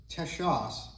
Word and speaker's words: Texas: in in Spanish America when they wrote the sh sound uh they used an X and I know this